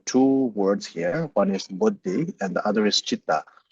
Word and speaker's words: buddhi: One is buddhi and the other is chitta. So the first one is buddhi. Buddhi means so even within the Sanskrit word of buddhi, there's like two syllables, bo and di.